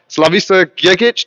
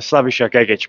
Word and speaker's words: Slavisa Gegic: delighted to be here with the Serbian Sledgehammer slavisa git did I pronounce that right so close it's slavish git but slav is easy it's hard for everyone